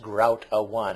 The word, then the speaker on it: groutaone: u t a o n e and it's pronounced grout a one and I like that that even on his